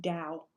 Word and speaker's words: Tao: I think it's pronounced Dow, but that's okay. Depends Either what one. Country you're in, right?